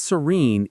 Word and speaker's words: serene: The stress is on the second syllable, which has a long e sound. Serene like the in scene. Serene.